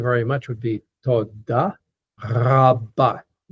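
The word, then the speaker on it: רבה: The Hebrew R is pronounced more towards the back of the throat. It's a ra, ra, ra, back towards the soft palate.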